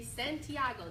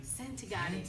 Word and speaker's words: Santagati: And we have the beautiful Santiago. Did I say it right? It's Santagati. Santagati. Santagati. Oh, that's like Yo Gotti.